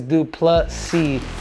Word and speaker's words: Du Plessis: to go with drias I us should call him draus but apparently it's dricus and everybody doesn't tell nobody kind of corrects uh anybody but it is drick is dup plus c with a silent s but without further Ado